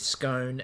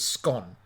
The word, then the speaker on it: scone: it's it's it's it tends to be just a British pronunciation is scone and the Australian harder harder pronunciation is scone and that's where it's